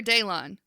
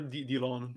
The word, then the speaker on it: Delon: Delon or Daylon? It's pronounced both ways, but I prefer Delon.